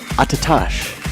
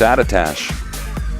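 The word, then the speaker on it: Attitash: Klosterman's home mountain is Attatash. That's Attatash.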